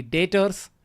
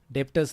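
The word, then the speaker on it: debtors: तो जिन्हें हम गुड्स उधार बेचते हैं वो हो गए हमारे लिए संड्री डेटर्स। डेप्टर्स नहीं बोलना है। बी साइलेंट कर देना है। एक्चुअली यहां पे याद रखो संड्री डेटर्स बी साइलेंट।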